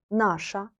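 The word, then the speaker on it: наша: sound like nash feminine nasha neutral nausea and they sound a little similar but try to make any accent on the last letter so we can recognize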